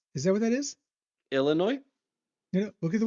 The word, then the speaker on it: Illinois: Now, the game after that against Loise. Is that what that is? Illinois. You know, look at the way it's spelled.